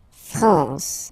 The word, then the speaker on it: France: La France, okay? A-N here, nasal, en, la France.